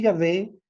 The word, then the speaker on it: Yahvé: Así que las dos pronunciaciones más comunes en realidad son Jehová, que es una pronunciación latina utilizada desde el siglo XVI, y Yahvé, que es un intento de pronunciar las palabras según una interpretación hebrea más literal.